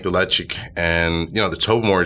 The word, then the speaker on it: Ledaig: I mean, that's almost a 20-year-old Ledaig is, and that is how you pronounce it, right? Ledaig.